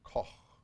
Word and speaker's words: Koch: Koch, or as I think they say Koch, but in German or in Dutch it would be Koch. Get a little spit in there.